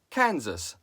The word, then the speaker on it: Kansas: The Kansas tribe gave the Kansas River its name, and the English colonialists named the land surrounding it Kansas, pronouncing the English S, because it belonged to Kansas.